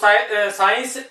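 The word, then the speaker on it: science: साइलेंट करेंगे, एस को साइलेंट नहीं, सी को साइलेंट करेंगे। तो साइंस, सीन, सिनेरियो, सीजर्स, बहुत सारे ऐसे वर्ड्स हैं जो आपके सामने हैं, तो यहां पे ये बोला गया।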